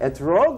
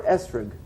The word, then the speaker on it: esrog: An esrog, or how do you guys pronounce things in yeshiva? Etrog or esrog? Esrog.